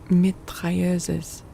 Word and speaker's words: mitrailleuse: How do you pronounce it in I'm guessing it's a French word that has like a bastardized English pronunciation. Mitrailleuse. Oh, okay. It's just that pronunciation.